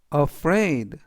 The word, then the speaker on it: afraid: 뜻이 되겠습니다 이번 단어는 afraid afraid afraid라고 발음하시면 되겠고요 이때 강는 r에 의 강가 있습니다 그래라고 발음하시면 좋겠고요 품사는 형용사